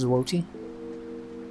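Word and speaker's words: złoty: It's pronounced Zwoti.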